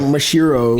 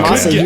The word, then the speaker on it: Masahiro: You said Mashiro. Mashiro. It's Okay. Masahiro.